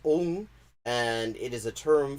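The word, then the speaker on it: ông: Because if you write that with a circumflex on top of it, a caret, it's pronounced ong, and it is a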